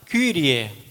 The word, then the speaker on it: Kyrie: Agora no Kyrie, que a gente fala Ki, mas não é Ki, a gente deveria falar Kyrie.